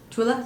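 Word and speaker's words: Thule: Tula, that's how you say it.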